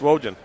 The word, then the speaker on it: Rogan: so money she'll know she says it's Rogan rhymes with Trojan so anyway but yes